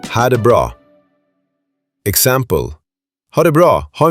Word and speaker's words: ha det bra: Pronounced ha det bra.